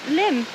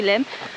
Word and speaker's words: Lim: This river, I don't know whether it's Lim or Lyme, it's spelled Lim, so it's different from Lyme, so I would say Lim, is actually the official boundary, like the border between Devon and Dorset.